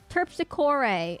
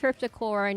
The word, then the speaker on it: Terpsichore: Terpsichore. It's pronounced terpsichore, not terpsichore.